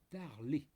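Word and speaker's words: Tarlé: en disant je m'appelle, il faut prononcer mon nom, Tarlet. Vraiment en insistant sur le et accent aigu.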